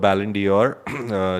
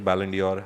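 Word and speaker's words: Ballon d'Or: In France, we call it the Balandor. Balandio. Say it again. Balendio. Baland. Balandia. It's like it's like Christian Dior. You say it like Christian.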